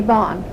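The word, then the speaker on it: Baughn: Aunt Fanny Bond. Okay. And that's spelled B-A-U-G-H-N.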